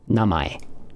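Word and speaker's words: 名前: And this would be pronounced namae, which means name.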